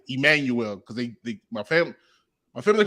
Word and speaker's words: Emmanuel: So you either say it the regular way, like Emmanuel, or you can say it like the Spanish way, or Manuel.